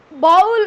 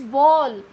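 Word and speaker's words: bowl: इट्स नॉट बाउल, इट्स बॉल. इस pronunciation is बॉल. आज के बाद आप बाउल नहीं बोलने वाले हो. ये बाउल नहीं होता, ये बॉल होता है. Okay, use correct pronunciation बॉल.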